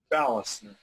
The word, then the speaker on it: Balster: Chellam and marina and today's our very special guests we have pronounce your last name for me ballast ballast Oh you know I would the way